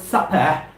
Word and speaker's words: supper: pronounce this word suffer when you pronounce those words supper your lips touch each other your upper lip touches